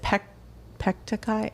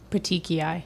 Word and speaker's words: petechiae: She had is it pectacai? How do you say that? Petechiae. Petechiae.